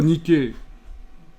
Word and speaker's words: Nike: nicke Nike savez qu' en principe ça se prononce Nick parce que ça c'est une desse de l'Antiquité la DESS Nick mais bon comme c'est pas très bien vu pour l'instant notre époque on va prononcer Nike on va garder l'adjectif